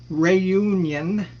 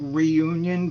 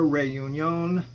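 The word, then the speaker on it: Réunion: Is it B, Reunion? It's actually not pronounced like that. It spells like reunion, but it's like Reunion or something like that.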